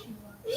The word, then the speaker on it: Sheila: It's pronounced Sheila.